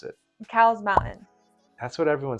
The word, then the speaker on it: Cowles Mountain: Well, it's named after a guy, and the guy went by Cole. His last name was Cole.